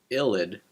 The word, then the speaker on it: ylide: The vidig reaction uses a reagent known as a phosphorane illid pronounced illid to convert an aldahhide or ketone into an alken.